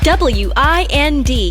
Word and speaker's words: wind: The letters I and D can sound like, mind, kind, find, blind, wind. W I N D can also be pronounced wind.